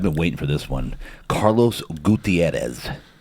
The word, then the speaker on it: Carlos Gutierrez: I've been waiting for this one, Carlos Gutierrez. How was that pronunciation?